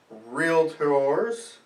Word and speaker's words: realtor: We're both licensed California realtors.